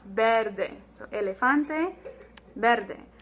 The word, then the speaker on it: verde: Our color green is verde. Okay, so we don't have any E sounds like verde. No, it's verde.